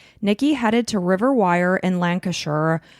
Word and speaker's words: Lancashire: On Friday, January 27th, 2023, Nikki headed to Riverwire in Lancasher. Lancasher.